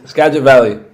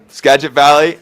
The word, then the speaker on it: Skagit Valley: he went over to college at, I can't pronounce this college, so Benny, can you hit me? Skagit Valley Newman? Skagit Valley. Skagit Valley.